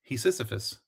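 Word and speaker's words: Hephaestus: Hephus or how do you say that dude's name is?"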